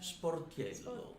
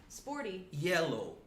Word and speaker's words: Sportiello: Sportiello. Sportiello. Yeah, so I always say to pronounce correctly my last name, you know, it's two words. Sport, say that. Sport. And Sport. Sporty. Yellow. Sporty yellow. That's it.